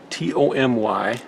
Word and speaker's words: Tomy: Oh, it's not really that important, but Tommy T O M Y. And I've mispronounced it on some of my other videos, which I love. People grew them in the comments. Get over it. Okay, maybe that's on me, but it's Tomy, the diecast toy company.